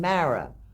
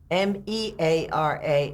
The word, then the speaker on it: Meara: If you lived in New York or the United States, he pronounced my name Meara. If you lived in Tipperary in Dublin, M-E-A-R-A is pronounced as if it was M-A-R-A.